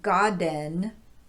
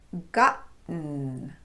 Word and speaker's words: gotten: So instead of pronouncing this word as godden, it would be gotten with a glottal stop.